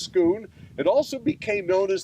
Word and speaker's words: Scone: as the Stone of Scone s cont like scone except it's pronounced Scoon it also became known